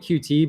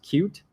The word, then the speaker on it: Qt: I keep calling it QT but officially it's pronounced cute I never got in